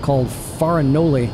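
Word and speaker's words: Farinole: It ends with an E, not an I. I don't know how Italians say words that end with an E, but it looks like Farinoli.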